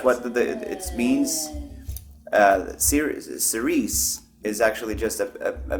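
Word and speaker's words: Cirice: female name sounding so I wanted to sound like a female name like like Clarice s so that it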